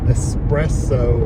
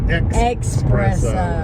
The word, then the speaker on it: espresso: Espresso instead of espresso instead of espresso. Espresso, yeah. Espresso with an X.